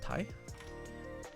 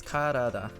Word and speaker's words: 体: Oh, is it Tai? No, it's karada.